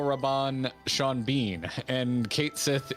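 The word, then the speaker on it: cait sith: rabbon sean bean and kate sith is a gaelic word pronounced in the language as que she yeah no i'm just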